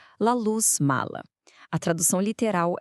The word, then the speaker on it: La Luz Mala: O nome é em espanhol, então a pronúncia correta é La Luz Mala.